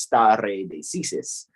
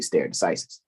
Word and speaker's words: stare decisis: And in Latin, standing decision is pronounced stare decisis. Some people say stare decisis.